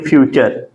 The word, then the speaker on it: future: तो अभी ध्यान दीजिए, जैसे एग्जाम्पल में अगर हम ध्यान देखें तो जैसे आप देख सकते हैं फ्यूचर, FUTURE।